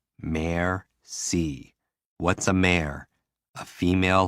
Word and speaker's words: merci: and what they go merci what does it mean thank you break it down mayor c what's a mare a